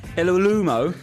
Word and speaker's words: Iwelumo: And our guest this week was supposed to be Chris Iwelumo. I mean, that is... How did you pronounce that, mate?